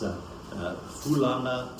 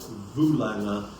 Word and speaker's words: Fulanga: Fulanga is an interesting one, because some people spell it with an F, some people say it's with a V, some people say it's Fulanga, Vulanga, or Fulaga.